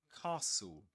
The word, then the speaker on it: castle: So, castle. Castle. We don't pronounce the t nor the e. The end we say castle.